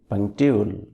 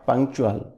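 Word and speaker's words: punctual: হি is very পাংটিউল, নট পাংচুয়াল।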